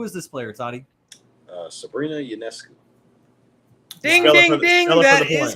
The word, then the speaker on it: Ionescu: Sabrina Ionescu. Ding, ding, ding. That is correct. Oh, yeah. Can you spell it?